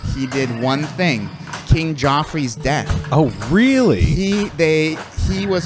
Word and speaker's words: Joffrey: So the last thing he's done in 20 years was the King Joffrey. Is that how you say his name? Yeah, Joffrey.